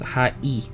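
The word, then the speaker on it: はい: Bros high five hi this word sounds like high or high however remember how hi how e sounds like e the word hi is actually pronounced with ha e ha but since Japanese language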